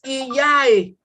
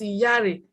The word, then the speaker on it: Iyare: Then the word Iyare, most times we see on paper single arrow, and that pronunciation is Iyae, which is wrong. It doesn't have any meaning. Iyae, but the correct pronunciation is Iyare, and what should be written is double arrow to reflect that pronunciation.